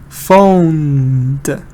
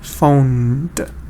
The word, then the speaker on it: phoned: Phoned. Phone is number 1. Good, Zahra. And it's the de sound. This time it's not the te, it's the de one is here. Phoned.